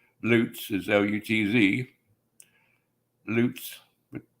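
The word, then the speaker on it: Lutz: of pronounce another like loots is l-u-t-z loots but a lot of people say Luts like nuts nope but That's the Way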